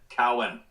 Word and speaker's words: Cohen: My name is My name is Cohen, pronounced cow and an and an cow and an n. Cowen.